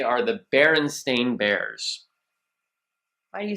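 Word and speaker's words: Berenstain: say it like that because most people think it's the baron steain or the baron Stein because a lot of people believe wholeheartedly that it is St i n at the end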